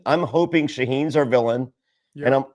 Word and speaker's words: Shauhin: How do you pronounce his name again? Shauhin. I'm hoping Shaheen's our villain.